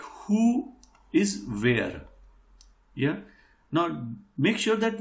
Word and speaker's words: wer: confusing, like who is where. Yeah. Now make sure that we pronounce it as where, W-E-R, but it is not where.